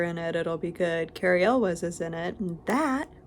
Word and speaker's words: Elwes: was like, oh cool, Cary Elwes, and he's like, it's actually pronounced Ewells. He genuinely thought it was EWLES instead of ELWES.